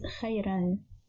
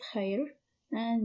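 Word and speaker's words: خيرًا: This word is pronounced as khayran. Originally it is khayr, and with tanween al-fath it is pronounced as khayran.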